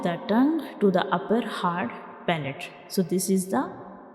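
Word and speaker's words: ه: Our next letter is ha. Ha. So this is the shape of ha, and ha is a throat letter and it is pronounced from the bottom of the throat.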